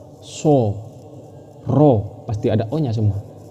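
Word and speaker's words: ر: Ro ini kan fathah. Fathah pasti dibaca o. Ro bukan dibaca ini. Bukan dibaca rabaca apa? Ro. Diingat ketujuh huruf ini. Ro. Cara membacanya seperti ini. Ro bukan ra.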